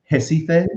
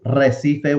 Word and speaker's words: Recife: In Brazil, they pronounce the R like an H. Yeah. In Brazil, so like there's a beautiful place kind of on the coast in the north called Recife. It's Recife, which means reef, but they pronounce it Recife, so it's Rafinha.